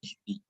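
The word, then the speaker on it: اهدِ: So that's why hamza is added in the beginning, and normally the Arabs will not write the Arab on this hamza because they will know that it has to be pronounced as ihdi.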